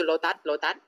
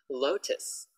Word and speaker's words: Lotus: Lotus, so I often hear people go, oh, go to Lotat. Lotus, Lotus, not Lotat, Lotus, okay.